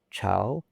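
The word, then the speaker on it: 朝: you may know that when it's pronounced chao, this character may refer to a dynasty or a royal court. For example, Ming chao is the Ming dynasty, and chao ting is the royal court.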